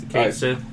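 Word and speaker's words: Cait Sith: Well, based off the only way I've seen it spelled, I say Kate. So. Yeah, see it. Kate Sith.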